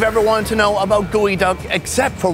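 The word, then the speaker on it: geoduck: wanted to know about gooey duck except for why it's pronounced gooey and not geo that we'll have to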